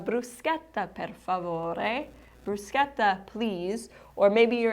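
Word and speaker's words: bruschetta: You're in the restaurant and you would like bruseta as an appetizer. And you know now with learn Italian for travel that you pronounce the ch like a c not like a cha. So bruseta or you can simply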